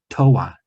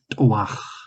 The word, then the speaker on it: Toa: And well, he pronounces it Toa. Toa. His parents gave that to him, and they say it that way. In jargon, it'd be something more like Toach.